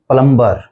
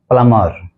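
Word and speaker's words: plumber: पर बोल देते हैं प्लंबर प्लंबर जबकि इसका यह गलत उच्चारण है इसका जो सही उच्चारण है वह है प्लमर प्लमर यानी इसके अंदर जो बी है वह साइलेंट है और यह टू सिलेबल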